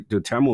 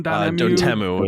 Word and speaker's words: Dotemu: I think the Dotemu is really cool.